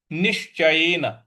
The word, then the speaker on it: निश्चयेन: निश्चयेन, यहां पे देखिए बड़ा वाला श है, आधा लिखा हुआ है, तो निश्चयेन इस प्रकार से इसको बोलेंगे।